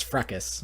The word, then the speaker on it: fracas: this for cos fracas I never remember its fracas even though like think you'd spell it with you it's it's it's spelt with an A it makes me realize